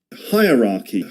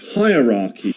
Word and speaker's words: hierarchy: Most people pronounce this word wrong. Do you watch and learn from Luke Thompson? Hierarchy. Hierarchy.